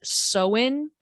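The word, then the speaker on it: Samhain: with a holiday called i believe it's pronounced so in it's not spelled like that but i believe that's how it's pronounced and it was a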